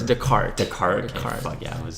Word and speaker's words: Descartes: Test cards, right? Oh, don't say it like that. It's Descartes.